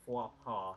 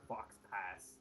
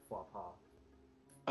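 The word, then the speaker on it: faux pas: rudely interrupted me um that word that you mispronounced it's called flop ha you said fox pass um it's honestly very commonly mispronounced flop ha okay so I don't fault you for that one I I expect anybody to mispronounce it it's like French or something all right my my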